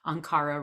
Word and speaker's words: Ankhara: r a r o s e so anara um and it's anara on Facebook